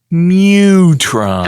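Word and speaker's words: Mu-Tron: That would be Mutron.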